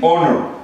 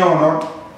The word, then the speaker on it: honor: En honor, porque la H en estos dos casos es muda. En honor, un honor; en agua, una hora.